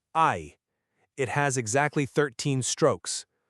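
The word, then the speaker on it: 愛: The kanji character for love is pronounced ai.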